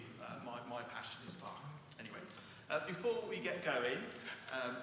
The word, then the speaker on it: Bach: Yeah, Bach. So with the CH as in the Scottish loch, so Bach.